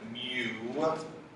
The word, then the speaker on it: mu: by the Greek letter looks like a u we pronounce it mu so I need to